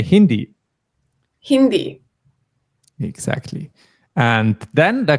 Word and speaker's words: Hindi: English Kish Dutch japanish but uh Hindi we didn't add is we don't say hindes that would be weird we just say Hindi Hindi exactly and then